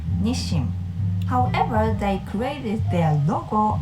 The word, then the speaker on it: Nissin: the one who invented instant Ramen Japanese natives pronounce it nishim nishim I noticed some of the non-japanese speakers call them Nim it sounds a little bit different to me